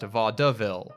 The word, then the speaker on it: vaudeville: And yes, unfortunately, the word was originally pronounced vaudeville, with 3 syllables.